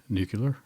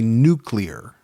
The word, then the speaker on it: nuclear: Nuclear. Well, that's the way I said it. Yeah. But it's actually nuclear. Nuclear. See, when you just add 3 syllables to it.